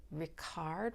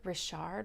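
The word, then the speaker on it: Matthieu Ricard: Buddhist monk named Matthew Ricard rishard Ricard uh as you can hear from at least my pronunciation of the first part of his name he is French he um got Advanced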